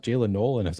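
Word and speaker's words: Jaylin Noel: And I was calling him Noel, I think, for the first like I was too. Like I I started calling him Noel and then eventually it's actually pronounced Jaylen Null.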